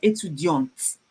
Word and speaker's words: étudiante: feminine, she's a female, I have an E after the T, and I would pronounce it. So I will say elle est étudiante, not étudiante.